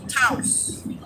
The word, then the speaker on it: Taos: Taos? Taos. Like Laos.